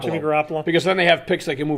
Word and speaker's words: Garoppolo: The eye tie, Jimmy Garoppolo. Jimmy Garoppolo.